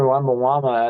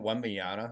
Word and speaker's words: Wembanyama: And Wait till you see Victor Wembanyama at the, at the Cavs game. how do you say the last name? Isn't it Wembyana? I just call him Wemby. Wembanyama. Yeah, Yeah. Wembanyama. Yeah, I just Yeah, call him Wemby.